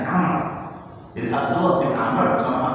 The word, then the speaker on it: Amr: Nah ini ada dalam kalimat kalau kata Umar diawali dengan alif berarti bacanya Amr.